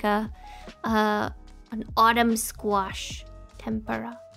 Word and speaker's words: tempura: to me but in Japanese we pronounce the M as n so tempura tempura not temper temper uh yes right yes